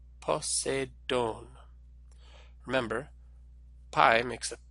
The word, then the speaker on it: Poseidon: Remember to think about which sound each letter makes, and to put the word stress on the syllable with the circumflex.